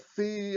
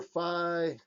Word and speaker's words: phi: is then and it depends i guess uh depending on whether you're english or from the united states depending where you were schooled depending if you went to sorority or fraternity you might not pronounce this differently but fee or phi or however you want to pronounce it v or phi so the phi or